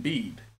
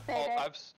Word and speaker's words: Bede: Bede? Is that pronunciation? I've been saying bead in my head. Yeah, it's Bede.